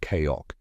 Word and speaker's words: CAOC: The combined air operations center or CAOC pronounced Koko at al- Udide is